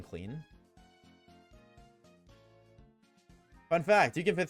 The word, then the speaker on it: Klein: it it's been like lowered ever so slightly clean.